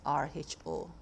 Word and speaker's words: rho: In case you're wondering how to say it, that's R-H-O, rho.